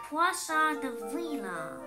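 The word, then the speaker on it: poisson d'avril: Another duckling who happened to take French said, "You pronounce that by pinching the bridge of your nose and saying, Poisson de Vila."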